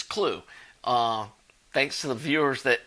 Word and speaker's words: Klugh: Earl Klugh. And I pronounced his name wrong the other day, calling him Klug, but it's Klugh.